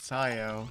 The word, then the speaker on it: siyo: Silo rhymes with siyo.